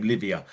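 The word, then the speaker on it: Liviyah: Livia. Get it right. It's like Olivia. But it's not spelled that way. It's spelled L I V I Y AJ.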